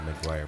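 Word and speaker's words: Meguiar's: Maguire. It's like the movie Jerry Maguire.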